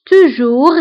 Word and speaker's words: toujours: Toujours, toujours هي دائما. Toujours. فبالنسبة toujours كنكتبوها بأس في آخر الكلمة ولكن لا ننطقها.